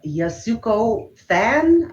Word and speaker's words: Yasuko Thanh: you want to see i don't know how to pronounce uh yasuko fan i think is how you pronounce her last name and she's a writer